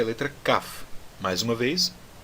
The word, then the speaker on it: Kaf: Bom, a 11ª letra do alfabeto hebraico é a letra Kaf. Mais uma vez, a pronúncia dessa letra é Kaf e não Kaf, tá bom?